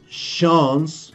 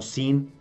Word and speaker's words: Sean: En la lectura que escuchamos, one of Sean's, es que este nombre se pronuncia no sin, o sí, sin, no, es la pronunciación en inglés es Sean, que oímos el nombre